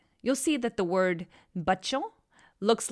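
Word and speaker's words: بچوں: So if you download the alphabet chart, you'll see that the C with a caret on top of it is actually pronounced che.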